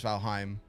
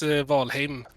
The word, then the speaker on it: Valheim: quick side note um is the rest of the world pronouncing valheim wrong or is it just the swedish accent because i noticed that all the developers say valheim and the rest of the world says valheim and it's vol okay so the rest of the world is pronouncing it wrong basically yeah so from now